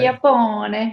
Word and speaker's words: Chiappone: Chiappone.